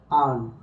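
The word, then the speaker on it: earn: এনটা হলো কি কনসোনেন্ট তাহলে এটা উচ্চারণ হচ্ছে কার মতো বলতো আ যেমন দেখো আর্ন এরপরে দেখো এই যে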